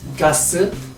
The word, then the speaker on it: Gath: 가스, 뭐라고 여러가지 발음으로 불리는, 저는 가스와 게스의 중간 정도의 발음을 하고 있습니다.